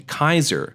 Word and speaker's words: Caesar: the past 2000 years the sea in Romance languages began to soften so slowly the lat old Latin pronunciation Kaiser becomes Caesar however the memory of